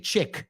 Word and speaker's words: chic: We don't say chic. Se escribe C-H-I-C. But if I'm not mistaken, it's a French word.